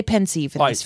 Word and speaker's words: Pensieve: problems no you don't people say different things potatoes we say pensive so Marion Blake media house Larson is gonna pronounce it pensive okay fair now I'm gonna